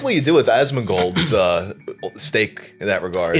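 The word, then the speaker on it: Asmongold: in that regard it's so it's pronounced asmin gold yeah cuz people in the comments wait how did you pronounce it Osman gold Osman like Donnie Osman gold yeah yeah more or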